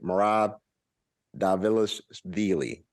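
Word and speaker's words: Merab Dvalishvili: UFC Fight Night yam versus Doc excuse me marab davila's dealy that's how you pronounce his name um they are fighting in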